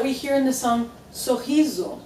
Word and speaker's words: sorriso: And you have the one S between two vowels, zu, sorriso. And you also have, when the word ends in O and there's no graphic accent on the O, we tend to say U, sorriso.